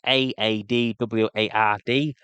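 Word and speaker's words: Eadweard: In the old English, it's Aadward. Edward II in the Anglo-Saxon numeral ways of counting kings.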